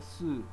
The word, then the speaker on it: sûr: Mais, bien sûr. Mais, you drop the S. Bien, you drop the N. Sûr. There's a reason why that R is pronounced.